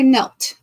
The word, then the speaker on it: knelt: Oh, there could be KN with a silent K. How about Nelt? Let's try knelt.